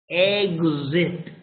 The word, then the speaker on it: exit: But if you pronounce exit, the pronunciation, the correct pronunciation is z, like gum, and z like is. So the pronunciation is exit, egg, like you're saying egg, huevo, egg, and then zit, with a z, okay?